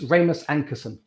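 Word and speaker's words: Rasmus Ankersen: if ramus if you're listening i'm apologize for mispronouncing your name it's ramus ankerson uh ramis ankerson once said if it isn't broken consider breaking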